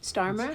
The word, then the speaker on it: Starmer: You're saying it right. Starmer. Kier Starmer. Starmer. Starmer.